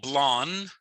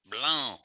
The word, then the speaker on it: blanc: is a nasally n so it's not blonde it you kind of got to plug your nose the N is sort of it's a nasally n belong you say it but you don't say it you kind of you get right up to the line and then you pull that horse back blown and oranges orange so